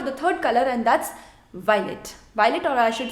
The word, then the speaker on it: violet: Now pronunciation. Violet, violette. Violet, violette. The pronunciation of masculine singular, masculine plural is same.